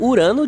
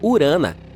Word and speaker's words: Urano: Bem, estamos chamando Urano de forma errada todo esse tempo. Os astrônomos dizem que deveríamos pronunciá-lo como Urana.